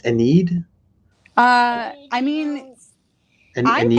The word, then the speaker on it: Ennead: What it's Ennead? I mean, I Ennead.